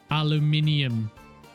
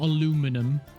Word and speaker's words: aluminium: And we've got a bauxite source here for aluminium. Because that's how you say it. Not aluminum. Aluminium. Just had to point that out.